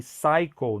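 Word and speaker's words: psycho: Atenção a essa palavra aí que cycle não se pronuncia o P, tá?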